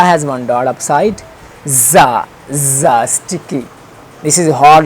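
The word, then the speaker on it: ز: Za, za, sticky, this is a hard letter, za.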